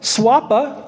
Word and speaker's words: SWPA: they call it sea swapa they'll say swapa s swpa uh the rest